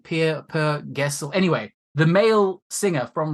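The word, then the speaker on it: Per Gessle: And by the way, quick side note, how you pronounce the name? Per Gessel.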